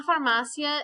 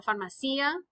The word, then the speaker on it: farmacia: get your gas la farmacia is a pharmacy and on this one um you owe it i always want to put an accent on the eye and say la pharmacia because usually we have